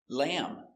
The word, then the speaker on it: lamb: So remember, whenever you see MB at the end of a word, the B is always silent.